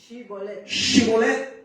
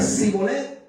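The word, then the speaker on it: שיבולת: Le mandaron a pronunciar una expresión con la letra Shin. Shibolet. Y el que decía Sibolet, no, este no es Papayo. El que decía Shibolet, ese sí.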